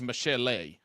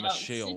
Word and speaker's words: Michele: Because it's only got one L in it, and I thought it was Michele instead of Michelle. It's spelled the French way.